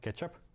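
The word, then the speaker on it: k3sup: that called k3s up pronounced like ketchup ketchup is actually initiated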